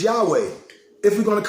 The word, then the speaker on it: Yahweh: The correct pronunciation is Yahweh, if we're going to correct teachings.